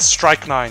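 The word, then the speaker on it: strychnine: I just looked at Strike 9, yeah. It's pronounced the same way.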